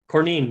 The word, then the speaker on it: Courneene: hold on Corine Corney Corine cor and apple cornine you got it Corine cornine Sean cornine yeah